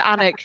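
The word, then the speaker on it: Alnwick: gonna say it's pronounced anic the L is silent and people get really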